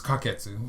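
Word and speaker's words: 柯潔: it but you know the Japanese have a completely different pronunciation of his name which is which is kaketsu it's really easy for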